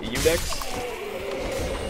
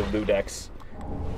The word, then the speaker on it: Ludex: Because there's no L in the name. It's like an I and then a U. How would you pronounce it with an L? I've never understood that. I've heard people say Ludex. And that's why I was like, is it Ludex? I thought it was an I.